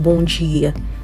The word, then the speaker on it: bom dia: And the D, if you see a D followed by an I, you're going to get a J sound, okay? That's why we get bom dia.